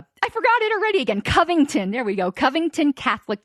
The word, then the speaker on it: Covington: was corrected on this it's not Coventry Catholic Covington there we go all right so the current situation I would like to use is the I forgot it already again Covington there we go Covington